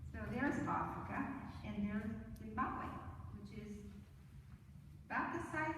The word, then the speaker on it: Zimbabwe: You pronounce it right, Zimbabwe.